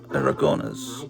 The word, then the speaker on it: Aragonés: My wife taught me how to pronounce it. I always just said Sergio Aragonés. But I said, how do you actually pronounce that in Spanish? And she taught me, I think, Sergio Aragonés. I think I've got it right.